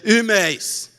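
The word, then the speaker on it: ὑμεῖς: entre nós e vós, mas em grego, nós é imeis e vós é imeis. Você percebeu alguma diferença? Pois é. A pronúncia é quase idêntica. E houve um período na Idade Média em que a pronúncia se tornou absolutamente idêntica.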